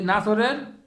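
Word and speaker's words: نصر: হবে একই শব্দ হবে শুধু খালি মুখটা একটু গোল করবেন আর লম্বা করবেন এটাই ডিফারেন্ট কিন্তু যেখানে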